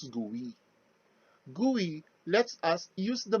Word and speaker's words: GUI: uses graphical user interface or the gui pronounced as gui gui lets us use